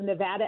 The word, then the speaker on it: Nevada: you can't be right, Nevadans, because in Spanish, Nevada, which is the origin of the word, is Nevada. Well, that's not exactly right. It's a slightly different pronunciation in a Spanish repertoire, but the reality is